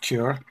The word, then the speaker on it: Cura: i'm now using cura i think it's pronounced cure and it seems to